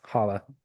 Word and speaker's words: challah: His lawyer is mostly known as a, is it pronounced challah? Yeah, holla.